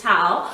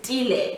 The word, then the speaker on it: Tile: they just assume it's Tao. So my husband's surname, it's Dile. We are closer. Okay. But because everyone just pronounced it as Tao, even at church and work, everyone just says Mrs. Tao.